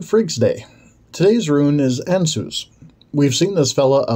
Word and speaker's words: Ansuz: things on our own this run is pronounced anus it is a god